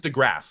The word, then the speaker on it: deGrasse: No, but it's just DeGrasse. Like that's how he says it. DeGrasse. Gotcha. No, I like the way Fury pronounced it. DeGreasy.